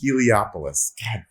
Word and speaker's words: Heliopolis: come from celestial holopolis is it halapoulos or heliopolis heliopolis you stan lee stanley